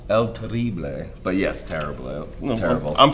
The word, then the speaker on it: Terrible: Terrible. I'm phonetically spelling. Gotta throw a little stank on it. Yeah, exactly. You gotta roll those R's.